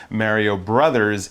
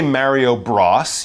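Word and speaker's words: Mario Bros.: You wouldn't say Mario Bros, you would say Mario Brothers, but often on a sign or in a title, we shorten the word brothers to B-R-O-S.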